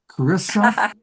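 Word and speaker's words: Charissa: Cararissa Sims, spelled the H is silent.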